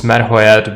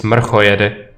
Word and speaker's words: Mrchojedy: Well, it's different pronunciation in English and in Czech. Because in English this is Merhoed, but in Czech it's Mrchojedy, which is this.